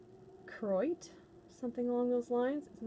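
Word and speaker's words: Koroit: spelt like choroid but apparently you're not supposed to pronounce the first o kroit something along those lines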